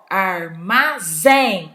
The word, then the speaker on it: armazém: última sílaba tônica oxítona armazém o armazém olha onde se eu falasse a outra ia ficar com outra pronúncia por exemplo eu falo armazém